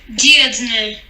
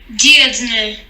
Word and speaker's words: Dirndl: Vamos escutar corretamente a pronúncia em alemão. Dirndl. Traje feminino. Dirndl.